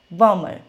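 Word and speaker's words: bomber: बी इकट्ठा आ गया तो आपने बी को क्या करना है साइलेंट करना है तो वो वर्ड्स कौन से हैं हमारे कौन से वर्ड्स हैं first is Plummer climb बमर देखिए इन सब में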